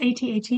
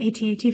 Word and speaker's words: AT-AT: I pronounced AT-AT as at instead of AT-AT for so long. It's kind of accepted to do both.